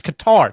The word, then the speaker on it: Qatar: Fucking all these assholes out there trying to pronounce Qatar like they're from Qatar. I went to Qatar. Fuck you. It's Qatar. Just say it like a normal person.